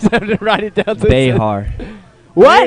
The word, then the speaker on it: Bexar: Behar. You know, that's the correct Spanish pronunciation. But in Texas, they pronounce it like the animal, grizzly bear. Bear County. They act like that X isn't even there.